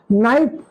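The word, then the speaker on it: knife: अब आप देखिए, मैं पूछता हूं आप ही से, नाइफ क्या स्पेलिंग है नाइफ की, जरा बताइए। KNIF। क्यों? जब नाइफ है तो एन से क्यों नहीं है?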